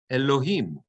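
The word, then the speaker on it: אלהים: Elohim, the etnachta is under the hey.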